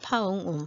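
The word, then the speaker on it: ຟ້າງຸ່ມ: 이 파웅움이라고 하는 사람은 이라고 읽어요. 파웅움.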